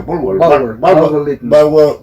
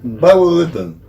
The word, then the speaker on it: Bulwer Lytton: Y de Bulwer Lytton, ¿cómo se pronuncia? Bulwer Lytton. ¿Cómo es pronunciado? Bulwer Lytton.